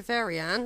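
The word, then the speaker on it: Veryan: Excuse me, how do you pronounce this place? Verian.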